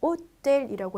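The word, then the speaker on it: hôtel: 호텔은 H 발음 없죠. 그리고 L은 끝자음이지만 발음을 많이 하는 단어라고 했죠. 호텔의 불어 발음은 오텔이라고 해요.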